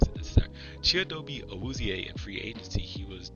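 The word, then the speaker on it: Chidobe Awuzie: I don't think I did, but um we picked up Chiobe, this is how you pronounce it. This is Chiobi Auzier in free agency.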